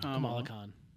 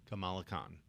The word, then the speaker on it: Kamala Khan: Kamala Khan. Kamala Khan.